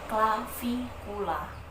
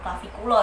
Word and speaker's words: clavicula: Kalau dalam bahasa ilmiah disebutnya clavikula, clavikula, clavikula. Tapi bacanya bukan clavicula ya, kita melencengin ke kulo aja gitu.